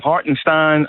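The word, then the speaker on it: Hartenstein: Hartinstein. I'm pronouncing it right.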